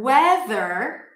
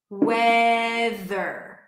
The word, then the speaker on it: weather: The word weather is an E sound, not A. Water, weather, TH, the, weather.